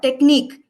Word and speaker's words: technique: But this word technique, here also the sound is eek. So weak, technique, almost rhyme, right?